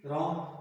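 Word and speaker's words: wrong: WROMGED, रॉन्ग student, इसमें जो W है वो साइलेंट है, रॉन्ग पढ़ने के रॉन्ग नहीं पढ़ते रहना इसे।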